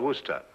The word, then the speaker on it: Worcester: Well, Freddy calls it something else, too, Doc, but it's spelled w o i c e s t e r. Worcester. Oh, yes, I see, yes. Lord Wooster.